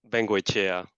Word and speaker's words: Vengoechea: So, but your last name is pronounced similarly. Vengoechea.